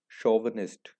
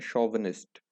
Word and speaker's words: chauvinist: शोवनिस्ट, ये इसकी correct pronunciation है शोवनिस्ट।